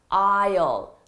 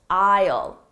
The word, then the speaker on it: aisle: going to see an aisle an aisle don't let the spelling confuse you the spelling and the pronunciation are very different it's pronounced isle isle isle okay now if